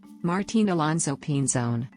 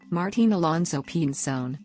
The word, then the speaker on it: Martín Alonso Pinzón: martine alonso pinzón martine alonso pinzón spanish pronunciation Polo's de la Frontera well de cerca